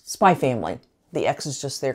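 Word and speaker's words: Spy×Family: I found it as spy family not spy ex family the X in the middle is not supposed to be pronounced it's kind of like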